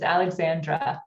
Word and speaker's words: Alexandra: It's Alexandra, Alexandra. My twin brother's Alexander, so we're okay, gotcha.